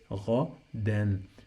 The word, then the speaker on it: غدا: When you find this combination, any word in Arabic that has in the end two fathas and the alif, we pronounce noon. We add noon, sound of noon to the end of the word.